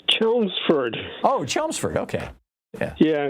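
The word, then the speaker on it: Chelmsford: chel chelou for massach how do you say that John it's chelsford oh chelsford okay yeah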